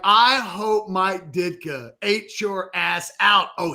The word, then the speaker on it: Ditka: Ditka? Is that how you say it? Ditka, right? No, Ditka. Oh, Ditka. Good.